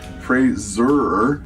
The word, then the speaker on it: Fraser: That's Fraser. Sounds like razor, which has been mispronounced all my career. I'm glad we were able to clear this up. Everybody says Fraser, though.